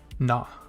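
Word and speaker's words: な: Na.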